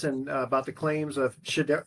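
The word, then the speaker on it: Shedeur: But then we also have Boomer Esiason and about the claims of Shador. Do you pronounce it Shador Sanders? Yes. Shador? Okay. Yes. And then George Kittle, highest paid tight end, new contract.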